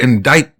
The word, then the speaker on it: indict: Because it's like you got to indict them. I hope I'm saying that right. Indict, something like that. Yeah, it's spelled with a CT, but it's just pronounced indict.